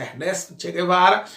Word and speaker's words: Ernesto Che Guevara: A pronúncia é essa, Ernesto Che Guevara, que fizeram uma revolução, tomaram o poder em Cuba, estatizaram empresas privadas de americanos e de cubanos, certo?